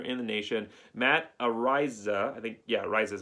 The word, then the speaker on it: Araiza: Araiza is how you say it.